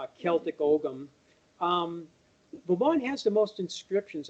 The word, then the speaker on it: Ogham: And well, Ogham, as it's pronounced, like Ogham money.